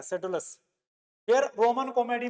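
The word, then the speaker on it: Pseudolus: miles क्लोरगस और ये सेडोलस ठीक है भाई पी साइलेंट रहता है सेडोलस फिर रोमन कॉमेडी में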